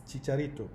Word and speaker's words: Chicharito: You might say Kikarito depending on where you are. I am from Mozambique, so maybe the way it's easier for me to pronounce Spanish names and Portuguese names. But it's Chicharito.